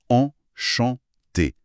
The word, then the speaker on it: enchanté: D'ailleurs, le guide insiste sur un détail, la prononciation en chanté avec des syllabes bien égales et un t final qu'on entend mais qui reste doux.